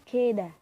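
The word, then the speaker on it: كده: Sedangkan untuk lughah amiyah itu keda, tulisannya kida tapi bacanya keda.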